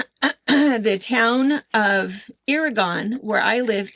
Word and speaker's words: Irrigon: And by the way the town of Irrigon where I live is pronounced Ira like irrigation and gone like in Oregon. Irrigon. Irrigon, Oregon. Irrigon, Oregon.